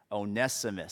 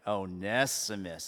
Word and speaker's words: Onesimus: I got it spelled out phonetically here. It's a little, okay. Onesimus. Say it with me. Onesimus.